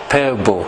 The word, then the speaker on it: Pääbo: and Denisovan DNA, it is this man, Svante Pääbo. Am I pronouncing it correctly, Ola? Pääbo.